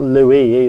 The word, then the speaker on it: LUIS: And I keep telling him it's Louis.